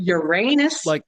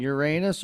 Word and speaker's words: Uranus: Like Uranus, Missouri. Like the planet. Yes. Like the planet. Okay. Yes. Very good. Then I'm going to write that one down. Uranus or Uranus, depending on how you pronounce it.